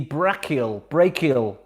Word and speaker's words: brachial: In which part of the body is the brachial artery found? Didn't get a chance to research the pronunciation of that.